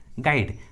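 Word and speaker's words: guide: है तो you silent होता है, यू का उच्चारण नहीं करते। For example गेस, गाइड।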